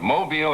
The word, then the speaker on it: Mobile: I was down in Mobile, have to say it right, Mobile, Alabama, for the Junior Miss pageant last evening.